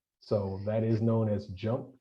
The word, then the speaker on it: JMP: So that is known as JUMP. You see it, as JMP, but it's just pronounced JUMP, and SAS is actually just pronounced SAS.